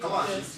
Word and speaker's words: Colossians: Colossians, yes.